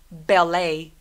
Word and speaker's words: ballet: Ballet, ballet. 걔도 끝날 때 T 소리 내지 않고 lay라고 소리 냅니다. 대신 입술 다물어서 ballet.